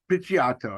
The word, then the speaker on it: Picciotto: Picciotto.